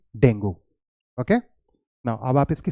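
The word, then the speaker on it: dengue: सो इट्स नॉट डेंगू, इट is either dinghy और डेंगे। तो आप अब दोनों में से कोई यूज करेंगे, but please don't say डेंगू, okay.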